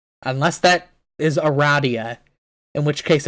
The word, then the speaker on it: Aradia: It is pronounced Aradia. Unless that is Aradia, in which case it's wrong.